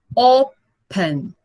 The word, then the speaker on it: open: Ele, apesar de ser pequeno, ele tem 2 sílabas. Open. Open. E a mais forte é o O.